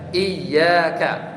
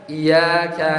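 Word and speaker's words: إِيَّاكَ: yang tadinya ada tasdid misalnya iyaka itu dengan tasdid ya iyaka nabudu wa iyaka nastain iya harus dengan tasdid kalau kita bacanya tidak dengan tasdid misalnya kita baca iaka naudu itu kita menghilangkan huruf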